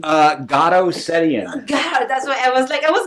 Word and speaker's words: Garo Setian: How you pronounce your first name? Garo Setian.